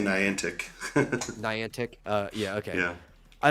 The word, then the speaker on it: Niantic: Or is that how you pronounce it? Neon Tech? The Pokemon Go people. I always say Niantic.